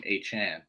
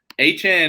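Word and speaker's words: Achane: waddle that guy aan it's not a CH he said on Twitter to pronounce his name aan put some respects on his name yeah exactly so aan is aan and moer like who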